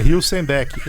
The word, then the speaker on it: Hülsenbeck: Hilsenbeck. E pronto, não esquece mais, Hilsenbeck. Hilsenbeck. Ótimo. É a pronúncia.